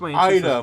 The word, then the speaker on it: Aida: I wasn't he he doesn't his name was Ida my bad Ida I think yeah his name was K Ida and they call him Ida I hav't seing